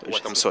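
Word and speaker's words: Walthamstow: Wathamstow, c'est ça exactement. Bien prononcé.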